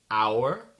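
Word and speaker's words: hour: de mots en anglais où on prononce pas le H c'est le H muux ok donc j'ai une petite liste ici attendez les mots sont our leure air l'héritier Honor l'honneur exhausted crevé ou fatigué très fatigué vehicle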